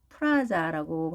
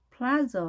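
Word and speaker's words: plaza: 한 상태에서 플라저 하는 거죠. 플라저 혹은 발음을 해서 플라저라고 발음을 합니다. AA 모음에 앞에 강세가 있겠습니다. 그래서 플라저라고 발음합니다. 프라자와는 완전히 다르죠.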